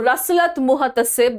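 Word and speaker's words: Rasalat Muhtasib: Okay, I know this is a little difficult to pronounce, but we can break it. Okay, so Rasalat Muhatasib. Okay, so Rasalat Muhatasib, this is how you're going to pronounce it. This is how you can remember it as well. Okay, Rasalat Muhatasib, this is how you remember it.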